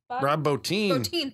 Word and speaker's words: Bottin: Bottin, thank you.